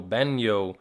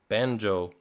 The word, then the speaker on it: Banjo: And when he gets to the characters section, I'm hoping that he's going to pronounce banjo banyo, but he gets to him and he pronounces it perfectly, banjo.